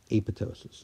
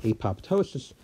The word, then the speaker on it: apoptosis: always been pronouncing it apoptosis yes of course everybody knows what that means but if you understand the origin of the word you'll know that it's actually pronounced a pitocin